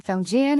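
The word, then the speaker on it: 房间: The pronunciation fungian has a rising tone followed by a flat tone like opening a door and stepping into a calm stable space.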